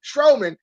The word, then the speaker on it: Strowman: Strowman, 2 syllables.